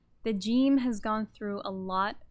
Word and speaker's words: ج: of these ways and the way the gene is pronounced in the quran is more similar to our english j so let's look at